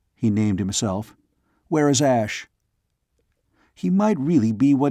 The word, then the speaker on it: Ash: I am a kin of Asha. We return to the hill. Ash. Not Asha, but Ash. Ross, though sure of that pronunciation, was still cautious.